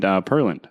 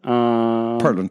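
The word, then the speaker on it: Pearland: You and Perland, coffee roasters.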